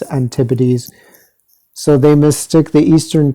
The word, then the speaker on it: antipodes: modern antipodes map uh i've been pronouncing this antibodies but apparently it's antipodes so they mistake the